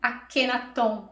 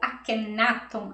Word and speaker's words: Akhenaton: expansão de consciência bom quem foi akhenaton ou akhenaton as duas pronúncias estão corretas a sua história teve